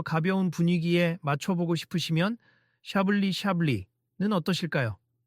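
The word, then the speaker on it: Chablis: 손님, 아까 말씀하신 소빈용 불랑도 좋지만 조금 더 가벼운 분위기에 맞춰보고 싶으시면 샤블리 샤블리는 어떠실까요? 발음은 샤블리 이렇게 하시면 됩니다.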